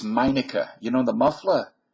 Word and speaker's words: Meineke: And by the way, it's Meineke. You know the muffler? Meineke, not Meineke. Would it kill them to pronounce it correctly?